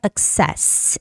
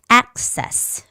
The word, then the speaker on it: access: terminal okay and access don't say exess it's access the stress goes on the first vowel which is a access the words were